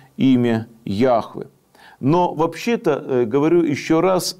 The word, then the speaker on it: Яхве: должно было звучать как Яхве Ях и вот это слово употребляется вместо слова Иегова который является устаревшей так сказать устаревшим произнесения Ну важно понимать что